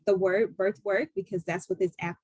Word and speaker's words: bEarth: It's spelled bEarth, but it's Birthwork app.